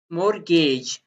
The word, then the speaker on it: mortgage: अपने ये है मोर मोरगेज यहाँ पे ये टी साइलेंट है मोरगेज रहन माइट शायद